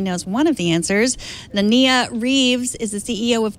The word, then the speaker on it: Nanea: Nanea Reeves is the CEO of TRIPP, a mood-altering VR platform. Welcome to the show. Hi. So how are you guys? Thanks for having me. It's actually Nanea. Nanea. Sorry.